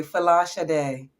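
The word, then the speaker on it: Folashade: It's like Sade, but that's the American way.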